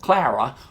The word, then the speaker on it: Clara: saw a movie named clora now it spells CL ara which I've always called Clara maybe that's just my southern accent but in